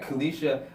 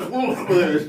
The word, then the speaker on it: Colquitt: Let me make sure I pronounced it right. Colquitt.